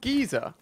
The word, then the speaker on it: geyser: Is it called geezer? That's how you say it in England. I say Gozer. No, we're not talking about the Gozo. Yeah, Gozo, mate. I'm talking about a geyser, like a warm jet